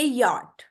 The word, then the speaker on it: yacht: यहाँ पे देखिए, YACHT, इसमें जो CH है, T है, वो क्या है, CH क्या है, साइलेंट है। इसको हम पढ़ेंगे यार्ड।